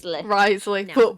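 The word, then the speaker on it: Wriothesley: name that's how they misle you that's R Risley I'm going to continue to call him rley this almost certainly happens in net story Quest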